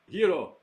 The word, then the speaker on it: gyro: know a year old not Greek gyros I'll take a gyro yiro I'll say it correctly yellow with some of